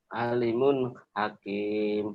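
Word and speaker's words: عليم حكيم: Alimun hakim. Alimun gitu atuh. Alimun hakim. Hukumnya Idhar. kenapa Domatain ketemu H. dibacanya Baca jelas N-nya, jelas Pak. bunyi N-nya alimun hakim.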